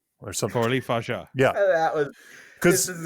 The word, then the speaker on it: Coralie Fargeat: Coralie Fargeat. There we go. Did you hear it? Do it again. Coralie Fargeat. Coralie Fargeat. Okay, Coralie Fargeat or something. Coralie Fargeat.